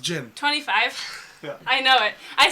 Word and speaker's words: djinn: It's genie. It's not pronounced genie. It's pronounced Jinn. No, gin is the species, which is DJINN.